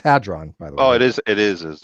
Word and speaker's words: hadron: state of the nucleus adren it's a it's pronounced had drawn oh it is it is I know it's